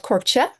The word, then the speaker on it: korkje: In Norway, this dye is called korkje. That is spelled Korkje.